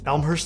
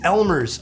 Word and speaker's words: Elmer's: Khalifi's really, I find that to be a little bit too Elmhurst, like the glue.